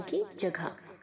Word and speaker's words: cadge: गुप्त जगह या छिपाने की जगह। Caches, caching. सो ये कैश है, कैच या कैची इसको प्रोनाउंस नहीं कीजिएगा, ठीक है। कैज, CADGE, डी साइलेंट है, कैज, ओके।